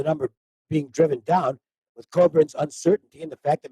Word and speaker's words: Cockburn: he pronounces his name coburn thank you and i think he does pretty obvious reasons so it's not pronounced the way it's spelled it's pronounced cobra kofi coburn and he is a